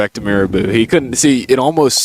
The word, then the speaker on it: Mirabeau: It's it's Mirabeau. Marabou B. Lamar, and it's Bonaparte. Yeah, it is. You're right. I love these pronunciations.